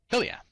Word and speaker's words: Tilia: What about the expansion of how do you pronounce it? Tilia? Tilia.